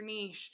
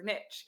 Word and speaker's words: niche: our business management agency people always say you know what is your Niche or as the Americans say what is your Niche I always laugh and